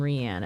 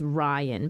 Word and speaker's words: Rian: I used to call him Rian until the voice inside finally said it as Ryan, but it's spelled R-I-A-N, right?